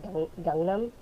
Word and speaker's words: Gangnam: Oh yeah, because the way they pronounce it is a little more like it's the A in at the beginning is kind of pronounced more like a U. It's more like Gangnam.